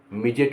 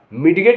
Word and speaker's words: midget: MIDGET मिजेट, मिजेट माने बौना। मिडगेट नहीं कहा जाएगा, मिजेट।